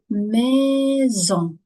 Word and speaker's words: maison: Si on trouve une la lettre S entre deux voy maison. Maison. Pourquoi on prononce le S comme le Z ?